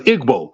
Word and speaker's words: Igbo: Oluda Equiano in Igbo, which I understand is pronounced as Igbo, stressed the similarities between the Old Testament Jews, the Israelites, and those of his own people.